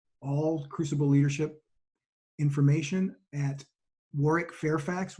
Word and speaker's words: Warwick: On LinkedIn, you'll find all Crucible Leadership information at Warwick Fairfax. Warwick's name is spelled with a silent W in the middle, W-A-R-W-I-C-K. You can find it on LinkedIn at Warwick Fairfax.